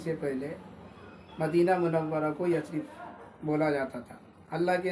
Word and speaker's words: یثرب: لفظ یثرب بھی ہے۔ اس کو بہت سے لوگ یثرب بولتے ہیں، جبکہ اس کا صحیح تلفظ یثرب ہے۔ یہ لفظ قرآن شریف